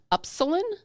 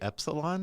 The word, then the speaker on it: upsilon: And what that means is it's shaped like an upsilon. Am I saying that wrong? What is that the E-P-I? No, it's the Greek letter. It's the Greek U in the alphabet. Is it epsilon?